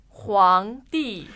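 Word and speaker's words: 皇帝: 皇帝 Now, that's not the same as yellow. It's not the not different characters different character, but it sounds exactly the same.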